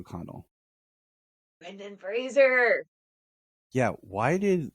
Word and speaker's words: Fraser: thing he was like my name is Brendan Fraser like Razer he's like it's always been mispronounced why was like the glass just shattered I was like I've been saying his name wrong all of these years yeah a lot of people pronounce it Frasier yeah and I that's